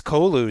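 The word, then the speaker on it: Colu: It is Kolu, spelled with a C, Legion World.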